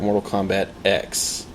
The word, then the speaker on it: Mortal Kombat X: and uh my favorite Mortal Kombat X x marks the spot x marks the spot but it's pronounced ex as in X oh I get it like ex-girlfriend oh good yes very